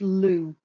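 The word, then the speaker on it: Lugh: is worse than French l u g is usually pronounced Lou yeah L I would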